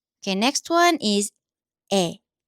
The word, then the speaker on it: 에: Okay, next one is 에. 에. And this one is 에. 에 looks slightly different from this one, but in modern Korean, they usually sound very similar. So this one is 에.